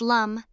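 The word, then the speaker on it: लं: Finally, the sound lamb, pronounced lum, the seed syllable for the root chakra, can be chanted in groups or alone, focusing on grounding and stability.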